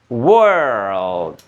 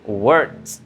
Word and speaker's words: world: not good yes so cara bacanya adalah world world kalau ini cara bacanya langsung word word my word my word my world my world oke Oke.